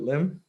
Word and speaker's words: Lim: Am I pronouncing the last name correctly? Is it Lim?